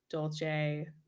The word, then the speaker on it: dolce: This is the almond delight dolce. How do you pronounce it?